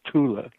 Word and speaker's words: Thule: It's usually mispronounced Thule Society, right? Thule. It's not Thule. In German, it's Thule.